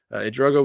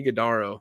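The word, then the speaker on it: Ighodaro: not great against Marquette Ugo was really or I'm sorry igodo I'm saying his name wrong igodo was really good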